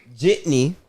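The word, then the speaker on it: Jeanty: We have Travis Hunter, Ashton Jitney. Jitney.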